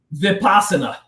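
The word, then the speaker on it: Vipassana: How do you pronounce it? Vipa vipasana.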